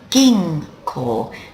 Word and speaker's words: 銀行: plus call gives you ging call there's the pronunciation for you ging core and that means Bank let's have a look